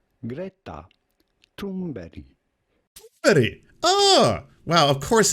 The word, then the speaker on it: Thunberg: We are looking at how to pronounce Greta Thunberg.